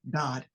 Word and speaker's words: Dodd: I have to say it correctly, Dodd.